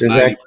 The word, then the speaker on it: Ciszek: Am I saying that right? Almost. Ciszek. Yeah, Ciszek. Okay.